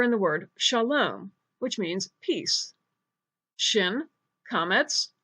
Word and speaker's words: Shalom: shin is the first letter in the word Shalom which means peace shin Komets lumidee : love